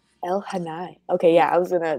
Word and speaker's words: Elhaanai: it down but i i don't want to mispronounce it what is the book trilogy called tales of el hanai el hanai okay yeah i was gonna butcher that right